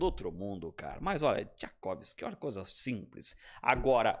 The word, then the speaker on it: Czajkowski: É Tchaikovsky, Thiago. Tchaikovsky. Igual Cara, o mestre russo.